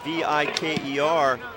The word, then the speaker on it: Viker: It's spelled V-I-K-E-R, pronounced Viker.